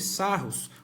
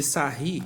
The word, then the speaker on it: Sarrus: ano passado que a regra de Sarrus ou de sahir dependendo da nossa pronúncia no que consiste essa